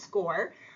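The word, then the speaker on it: SCOIR: bit about score so SC i r is pronounced score um score is our relatively new college application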